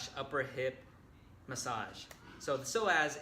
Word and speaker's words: psoas: number five is the psoas / upper hip massage so so as is spelled nothing like it sounds its psoas basically it's a set